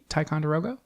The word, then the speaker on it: Ticonderoga: Ticonderoga?